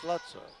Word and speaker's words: Slutza: I don't really like to say that name, but that's the way it's pronounced, Slutza.